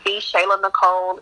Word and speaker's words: TheShaylaNicole: on instagram i'm at the shayla nicole it's spelled just like it sounds t-h-e-s-h-a-y-l-a-n-i-c-o-l-e and um on